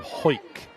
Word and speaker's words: Hawick: I think she's from Hawick in the Borders. She is, and you're pronouncing that perfectly well, cuz we had an argument last night. Oh, last night? It looks like Hawick.